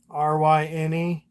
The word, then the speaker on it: Ryne: His favorite baseball player is Ryan Sandberg, and he even named his kid Ryan, spelled the same way. Ryne.